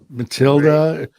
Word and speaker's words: Matilda: Matilda rhymes with Broomhilda, which is Wendy's alias over there.